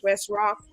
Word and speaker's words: Wes Rok: want to make it very clear the name West rock is pronounced W Sr o k w Sr o